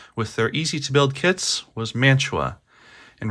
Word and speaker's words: Mantua: as it turns out, they were founded in Mantua, New Jersey, and took the name of their town as the company name, so that is the correct pronunciation.